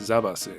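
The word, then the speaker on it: ザバス: The protein powder, by the way, is actually pronounced Zavas in Japanese, like you would expect.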